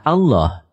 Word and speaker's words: Allah: dihilangkan untuk mempermudah membacanya lalu huruf lam yang pertama di idghamkan pada lam yang kedua sehingga menjadi satu lam yang di tasdid lalu lam yang kedua dibaca tebal sehingga dibaca Allah demikian pendapat ahli bahasa